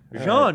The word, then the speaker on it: Jean: Jean, it is a Haitian French name. Can you avoid swearing on our podcast, too? It's spelled like G.